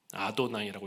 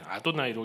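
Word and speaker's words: אֲדֹנָי: 아도나이라고 읽습니다. 아도나이. 글자는 철자는 그게 아닌데 아도나이로 읽어요.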